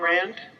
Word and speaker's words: Rand: she's been reading um you know I never pronounced this properly being being ran I'm I'm Rand fine Rand um and so she's fallen into